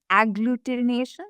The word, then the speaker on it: agglutination: It's called sperm agglutination. Am I saying that right? Yeah, you're saying it right.